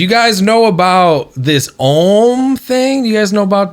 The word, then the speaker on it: Om: what it really is if you think about M how it's spelled syllabically is au M so the ah comes from the back of the throat just imagine ah comes from back here then oh is formulated in the mouth and then m is